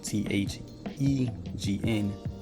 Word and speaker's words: thegn: But then we see the real word right here, Thegn, Thane. Okay, so it's pronounced the same.